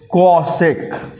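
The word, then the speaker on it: cosec: तो इसका मतलब मुझे एक लेटर और आगे जाना होगा, सी तक आते हैं और वर्ड यूज करते हैं हम लोग कॉसेक।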